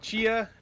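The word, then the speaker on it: Tchia: This game is called Chia. That's how you pronounce it.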